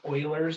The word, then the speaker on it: Euler: e we use e because it's it's called euler's number and euler e u l e r